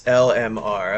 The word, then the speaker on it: LMR: Is there a better way to pronounce that? Like lemur? Like is it like a crunch of an existing word, or is LMR the correct way to pronounce it? No, it's LMR.